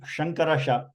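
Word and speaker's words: शङ्कर: to my left so when I say shankara this is how my tongue should should be Sha Sha okay know the lighting is good enough so that's is why I thought this pronunciation of sha and sa is better when we have a face Toof face class so that's like sha the tongue is not rolling this if the tongue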